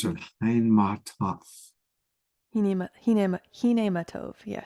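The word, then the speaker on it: Hine Ma Tov: Diara says, I love singing the, I don't know how to pronounce it, Hinematov. Hinematov, yes. Hinematov.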